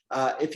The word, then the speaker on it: hay: If you want to say there is or there are, in Spanish, it's just one short word. It's pronounced like this. I.